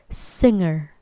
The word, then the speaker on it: singer: g sound not singer okay not singer but singer alright you're good repeat after me singer good